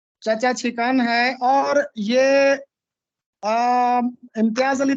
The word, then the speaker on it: چھکن: جی یہ سب سے پہلے دیکھیے، یہ لفظ ہے چچا چھکن. چھکن بھی نہیں ہے، چھکن، چاچا چھکن. چھکن جی چاچا چھکن، چھینک والا سر. چاچا چھکن ہے.